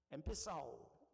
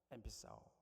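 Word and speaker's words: ἐμφυσάω: 여기 오늘 본문에 엠피사오 그리스도로 그렇게 발음합니다. 엠피사오.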